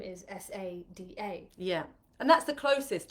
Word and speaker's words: Sayeeda: your name yeah you know I I would pronounce it Sada my dad would have said say or you